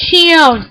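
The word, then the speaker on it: Xion: are Roxas and Sham yes her name is Shion that's how you pronounce it shut up don't say anything otherwise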